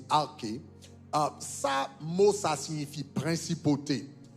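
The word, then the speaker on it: ἀρχή: Le mot utilisé pour principauté dans la Bible, c'est arché, A-R-K-H-E, arché, ok, en grec, A-R-K-H-E, ok, qui prononce arché.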